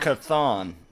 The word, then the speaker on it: Chthon: Chthon.